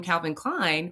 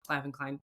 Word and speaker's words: Calvin Klein: I can't say largely influenced, but you can tell there was some influences by this commercial in the 80s from Calvin Klein or Clavven Klein.